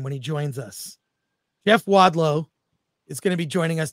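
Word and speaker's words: Jeff Wadlow: mind of Jason Blum and hopefully I don't mispronounce his name when he joins us Jeff wadow is gonna be joining us did I I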